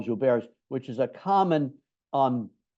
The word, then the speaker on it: Gilbert: or bear syndrome um it's spelled like Gilbert but the guy was French so we'll spot him on that and call jar which is a common